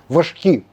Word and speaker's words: важкі: займається відділення важких коли ставлю наголос на слові важкі важкі кулемети така надзвичайно потужна